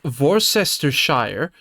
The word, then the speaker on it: Worcestershire: And It's pronounced Worcestershire.